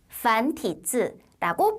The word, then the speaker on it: 繁体字: 중국어로 발음 한번 들어보세요.繁体字, 繁体字라고 발음을 합니다.